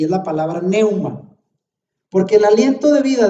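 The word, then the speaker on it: πνεῦμα: ahí lo pongo en griego y cómo se pronuncia, neuma.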